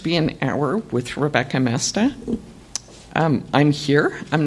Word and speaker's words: Moesta: It is pronounced Moesta, not Moesta or Mesner or Moesta or any of the other possibilities.